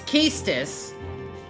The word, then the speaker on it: Quistis: Okay, whoever made these games do not know how to pronounce things. Her name is Quistis, and it's Balam. Dear God.